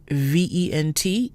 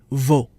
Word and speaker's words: vent: So our first example word, vent, V-E-N-T, is pronounced vent and not vo. The sound ends in the nose, vent.